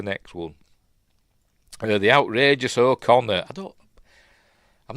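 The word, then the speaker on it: Okona: um uh Captain o Conor um I always pronounced it as a corer that's how that's how it looks do it on that o o o n it's pronounced o Conor is he Irish must be anyway um this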